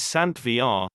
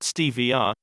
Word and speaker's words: Stevia: Stevia Stevia correct pronunciation is sand VR not stevr is a fascinating plant